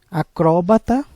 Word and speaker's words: acróbata: Acróbata, proparoxítona, e acrobata, que é paroxítona.